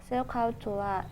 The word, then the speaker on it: SOHCAHTOA: SOHCAHTOA is pronounced SOHCAHTOA, and its mean sin is opposite over hypotenuse, cos is adjacent over hypotenuse, tan is opposite over adjacent.